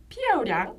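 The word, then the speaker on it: 漂亮: 다음에 제가 맨날 그, 삐오량이라고 발음하고 있잖아요. 그러면은 정말 예뻐. 네. 한 피아오량 뭐 네.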